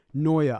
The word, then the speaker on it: Noia: Noia, I'm pronouncing that correctly, right? yep, All right, yeah.